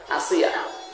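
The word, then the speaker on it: آسية: তাহলে আসিয়া না আসিয়া? আসিয়া হামজা দিয়ে।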